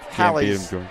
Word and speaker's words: Hallie: of an inside joke the public address announcer here mispronounces her name Haley on purpose kind of a fun